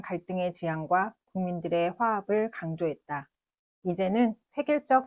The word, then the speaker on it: 지향: 히읗과 이응의 차이로 정반대의 뜻이 됩니다. 따라서 지향과 지양은 발음과 표기를 모두 정확히 구분하여 사용해야 합니다.